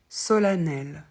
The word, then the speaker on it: solennel: avec E n n solanel solanelement alors le E de N qui fait a c'est déjà plus rare ça concerne principalement le